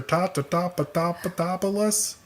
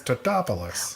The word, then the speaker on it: Tatopoulos: Oh, and people are always getting his name wrong, which is hilarious. Every time people see him, they're like, Mr. Tatapatopoulos. And he's like, it's Tatopoulos.